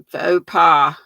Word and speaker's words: faux: says uh yeah fo f-a-u-x is pronounced vote did i say it wrong uh faux pas like a faux pas uh still working on